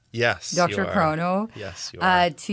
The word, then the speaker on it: DrChrono: you've had quite a journey with am I pronouncing it right Dr Crono yes Dr Crono yes you are uh to your new Venture